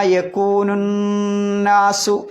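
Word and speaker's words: يكون الناس: പിന്നെ യൗമ യകൂനുന്നാസു അവിടെ യക്കൂന് കഴിഞ്ഞിട്ട് അലിഫിനും ലാമിനും ഉച്ചാരണമില്ല. അന്നാസിൽ എന്തുണ്ട്? അലിഫുണ്ട് ലാമുണ്ട്, രണ്ടിനും ഉച്ചാരണമില്ല. ഇതിലേക്ക് ചാടും നൂനിലേക്ക് ചാടും. അലിഫ് വസിലിൻ്റെ അംശ ആയതുകൊണ്ട് ഉച്ചാരണമില്ല, ലാമ് ശംസി ആയതുകൊണ്ടും ഉച്ചാരണം ഇല്ല. അപ്പോൾ യൗമ യകൂനുന്നാസു.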